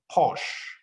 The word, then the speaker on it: Porsche: In fact, if you look at brands like Porsche, I know somebody might be an expert in pronunciation. They will say it's not Porsche, it's Porsche. It doesn't matter, but we know.